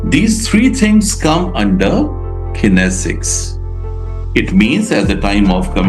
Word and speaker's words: kinesics: Kinesics. Come on. Not kinesics. It's kinesics.